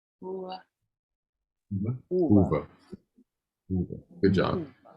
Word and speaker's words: uva: And U in Portuguese is pronounced like the end of the O, like quero, u, u.